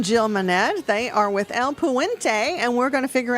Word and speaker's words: El Puente: Yeah, El Puente, great pronunciation.